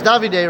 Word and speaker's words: Davide: and well I actually his name's out David's davide right yeah I thought that I thought was David with the silent e but okay Davide but uh yeah again